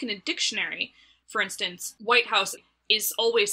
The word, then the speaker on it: White House: the compound word so when you say the white house and you put the emphasis on the word white english speakers recognize that